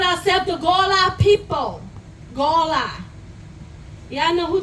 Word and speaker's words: Gullah: So I want y'all to pronounce it after me. Angola. Angola. Gola. Gola. Gullah. Gola. Now, what sound better, Gola or Gala? Gola.